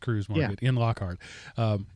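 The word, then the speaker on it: Kreuz: got a Cruz market it's spelled Crites what is pronounced Cruz it started as a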